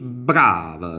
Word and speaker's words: brava: si nun facili e brava sentite con la b come forte nella pronuncia è brava quindi c'è un rafforzamento consonantico dell'abi che qualcuno mette altri